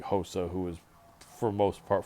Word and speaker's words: Rosa: wrong that's a close close fight uh carol hosa rosa except in portuguese the hours and h pronounced as an h so hosa versus sarah mcmahon i'm going to go for